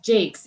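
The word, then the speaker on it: Jacques: i will tell you i did not know the last name was pronounced jake's either until i heard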